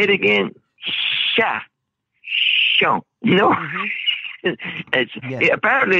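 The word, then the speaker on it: cher: It's not Sean, it's Sha. Yeah. It's Sha, not Sean. Yeah, and it's spelled C-H-E-R. Yeah, share, like share. Right, but we Cajuns don't say share, they say Sha.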